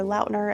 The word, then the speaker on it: Lautner: My favorite, I feel like, is the same as everybody else's, and that is Taylor Lautner, or Taylor Lautner is how you actually pronounce it.